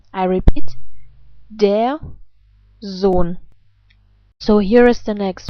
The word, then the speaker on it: Sohn: The rules are that vowels and umlaute are always pronounced in a long way if they happen before an H, an H. And in this case, that is the case. And for this reason, the O is not pronounced like O, but like O.